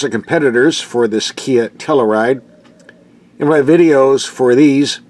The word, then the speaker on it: Telluride: Looks like the all-new 2020 Kia Telluride. Or is it tell you ride? I've heard it pronounced two different ways.